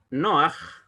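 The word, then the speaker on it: נֹחַ: Y tenemos un ejemplo de O larga en un nombre de un personaje bíblico, Noaj. Noaj es lo que se ha transliterado en español como Noé.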